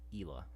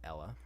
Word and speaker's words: Ella: See, phonetically, well, I guess I don't know phonetically, but I would have thought it would be called Ela. But apparently it's called Ella.